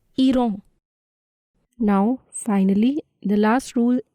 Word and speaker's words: Iran: Even though the spelling of Iran is same as in English, the pronunciation is different. It's Iran.